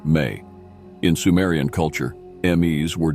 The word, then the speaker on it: me: Another potent symbol related to Enki is the Mes, pronounced May.